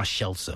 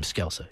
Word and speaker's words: Scelsa: the family old grandma Shela we called her uh which is the Italian way of pronouncing the name skela Shela and uh Franchesca